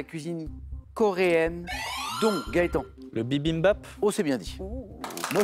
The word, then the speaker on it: bibimbap: Le bibimbap. Oh, c'est bien dit. Moi, je n'arrive jamais à le dire. Bibimbap, bravo. Bien prononcé Gaëtan, 3 points, dont le nom signifie